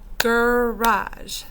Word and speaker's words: garage: through the motions so first they clap it out guraj that's two syllables and so when we say garage sometimes that ar sounds like an r or an e r to my friends and that's okay because it doesn't play fair either they will get there